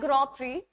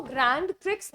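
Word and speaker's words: Grand Prix: Alright it's basically अ ग्रॉपरी इसको ग्रैंड ट्रिक्स नहीं pronounce करते स्टूडेंट्स इसको हम ग्रो प्रोनाउंस करते हैं।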